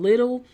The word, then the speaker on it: Lidl: story's huge so check it out it's called little al Idol it's a German grocery store and you spell that Lidl and you're gonna be giving away